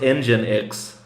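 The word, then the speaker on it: nginx: uh pronounced Oh, it's pronounced engine X.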